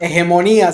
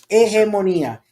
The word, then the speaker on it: hegemonía: Hegemonía se dice en español. Hegemonía, and that's with an H, and the H is silent.